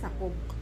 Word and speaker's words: Sakob: Hindi kasi ma-pronounce ang K. Dapat sakob. Sakob. So wari-wari is sakob. Sakob. Kaya saob na lang.